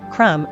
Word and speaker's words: crumb: all of the words you provide limb thumb crumb are listed in my local dictionary without AB